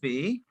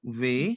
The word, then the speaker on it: vais: Je vais, Je vais. Je vais. tu vas. देखो यहाँ पे what we are doing over here, we are not pronounce S because S would be silent.